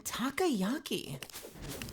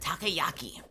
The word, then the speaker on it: takoyaki: the uh the soybeans in takayaki why did I say it like that takoyaki in takoyaki that sounds